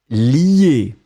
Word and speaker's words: lier: Ensuite, et là c'était très très intéressant parce que finalement, c'est le verbe lier.